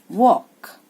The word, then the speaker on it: walk: Here L is silent. Walk.